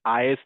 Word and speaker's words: IaaS: So we pronounce this as is PAS and SAS.